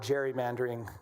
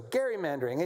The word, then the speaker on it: gerrymandering: I was learned I learned how to pronounce that correctly. Is is uh the legislator from Massachusetts who uh gave rise to the word gerrymandering, which is how we say it. His name was Gary. So gerrymandering, a nationwide gerrymandering war